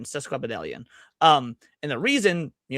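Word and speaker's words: sesquipedalian: Cesquidelian.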